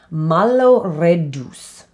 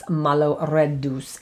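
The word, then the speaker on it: malloreddus: for this episode and that's a pasta called malo reduce okay malo reduce and that is m-a-l-l-o-r-e-d-d-u-s malo red deuce and that is a pasta you may know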